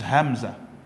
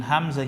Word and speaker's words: Hamza: to pronounce the Quran you will not say I leave amsa no you only say ah this is and at